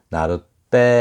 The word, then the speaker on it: 나룻배: 이런 식으로 뒤에 있는 발음이 원래는 된 소리가 아닌데 된 소리로 나는 경우, 그때 나룻배 하잖아요. 나룻배인데 배가 빼로 발음되죠.